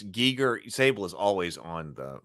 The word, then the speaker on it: Giger: so frustrating to watch so okay so it's Giger Sable is always on the pronunciation so it's it's G yeah I have a problem with saying gerer even though I know it's Giger okay so interesting backstory Danel Bannon met Giger